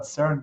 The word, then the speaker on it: CERN: that was developed the know-how was developed at cern that's the right way to say it because